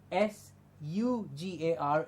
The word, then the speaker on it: sugar: S before U is like SURE is also sure and not sur. Yes? And SUGAR is sugar in the same way.